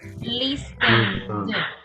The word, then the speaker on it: listened: Listen, la N tiene, it's voiceless or voice? Listen. Boys. Voice. Vibration means E sound. So the pronunciation is listened.